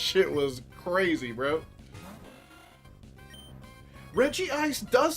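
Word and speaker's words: Regice: noises that was crazy bro Reggie ice does say Reggie ice well reg ice jeez I guess he knows his name better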